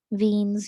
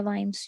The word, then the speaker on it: Wien: ठीक है, वीन्स या वाइन्स जो भी आप प्रोनाउंस करें, तो ये वीन्स कांस्टेंट है।